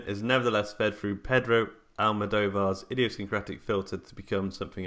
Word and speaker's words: Almodóvar: Is that how you're pronouncing it? Almodóvar. Almodóvar.